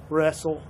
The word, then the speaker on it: wrestle: red onion rainmaker reversal wrestle i i don't think that last one begins with an r the w is silent